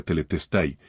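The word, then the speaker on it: τετέλεσται: En griego se pronuncia teletestai, no había nada que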